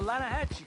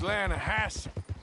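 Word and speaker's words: Lannahechee: The the Lanahhatchee. It runs right near here. Yeah, but it's pronounced Lanahassi.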